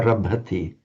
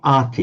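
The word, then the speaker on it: ārabhati: Not Ati. But it's an A, because it's an A. Arabhati. It's a short A. Arabhati. There's this tendency to, for an English speaker to pronounce it an arty, as in a Maserati or something.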